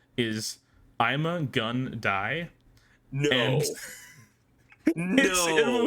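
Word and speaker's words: Ima-Gun Di: his full name is Ima Gun Dai. No. And no. Wikipedia says his name, pronounced like I'm a gun die, foreshadows his death in the episode.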